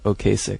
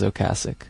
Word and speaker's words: Ocasek: Most Americans say Ocasek, though. Okasik? Yeah, but Rick says Ocasic.